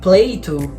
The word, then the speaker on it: Plato: A questão é que a pronúncia da palavra platoo lembra muito a palavra playdoh que é um brinquedo